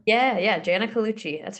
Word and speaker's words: Colucci: How do you pronounce it? Is Colucci? Is that right? Yeah, Janna Colucci.